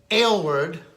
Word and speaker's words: Aylward: Joe here at ECRM Store Brands Week, and I'm with Larry Aylward, right? That's the way to pronounce That's it.